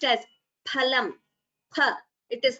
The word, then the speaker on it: फलम्: And this is pronounced as phalam. Pha. It is not pha. In Sanskritam, we don't say phal, phalam. It is phalam, pha, not pha.